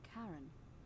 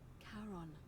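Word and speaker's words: Charon: It's just as you described it, only your pronunciation is a little off. The name you heard wasn't Karen. It was C H A R O N. As in Kon, the fairyman of the dead.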